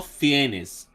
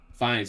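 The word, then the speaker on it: Fiennes: Moses he's the main character it has Ral fenes fines how do you say it fines fines okay sander Bullock Martin Short Steve Martin Patrick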